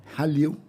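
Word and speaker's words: Hallyu: Uh what's is correct please my my pronouncing halu.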